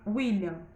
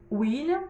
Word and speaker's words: William: William tem som de U, mas se escreve com W.